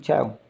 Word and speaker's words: chyle: I think chyle pronounced.